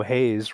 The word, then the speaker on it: Hayes: Okay, and as you know, Hayes rhymes with maize, which is the Indian word for Yes, corn.